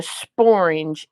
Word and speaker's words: sporange: And just in case y'all don't know what a sporange is, sporange would be the only word in the Oxford Dictionary that rhymes with orange.